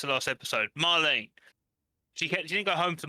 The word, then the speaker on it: Marlene: Didn't go home to Marlena for like dinner and stuff. Marlene. I keep on saying it wrong. I don't care. It's the last episode. Marlene.